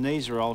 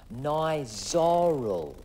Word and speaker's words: Nizoral: I went to the pharmacy and got some nazar I'll shampoo no mark it's pronounced nice sorrel look whatever it's called it's great because it's